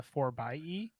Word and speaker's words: 4xe: And Aaron, before we get people writing in complaining about the way you pronounce that, I think it's the 4xe.